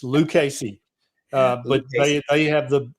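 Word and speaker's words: Lucchese: And don't pronounce it Luchi or they will throw you out of the store. It's Lucasy.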